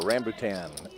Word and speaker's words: rambutan: A rambutan. R-A-M-B-U-T-A-N. It even I mean, it's so close to orangutan. Spell it again.